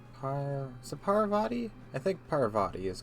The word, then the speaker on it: Parvati: this time I've got already forgot how to pronounce name hi sir Parvati I think Parvati is correct yes I don't I let her